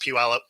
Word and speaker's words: Puyallup: Puyallup. Don't even try, man. We have a lot of Native American cities here. So that's pronounced Puyallup.